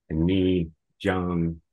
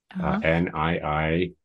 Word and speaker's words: Niijaang: first, was the mask, which we say in Haida is ni jung. That's how you say it in Haida, what a mask is, a ni jung. Niijaang. So the ng is like a n, and you got the ni ja.